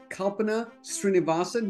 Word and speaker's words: Kalpana Srinivasan: Today, I'm really thrilled to have with me as my guest, Kalpana Srinivasan, who's the managing partner of Susman Godfrey.